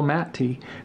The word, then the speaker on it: Matte: It's by someone named Michael Matte. And I would say his name Matt because his name is spelled M-A-T-T-E, but I've been corrected because he and I speak on a weekly basis now.